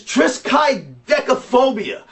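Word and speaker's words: triskaidekaphobia: have i think the the proper pronunciation is trisky deckaphobia that would be the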